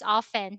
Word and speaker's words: often: To be safe, pronounce this often. Silent T.